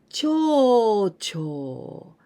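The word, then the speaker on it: 町長: Adding this kanji, we pronounce cho, cho. And the intonation is not the same. You know, cho, cho, going down.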